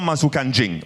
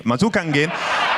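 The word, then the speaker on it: masuk angin: Okay, so it's not mazukanjing. Mazukangin. Okay, so I was confused.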